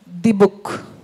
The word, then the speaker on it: Dybbuk: It's D-Book. Is that correct? Right, D-Book.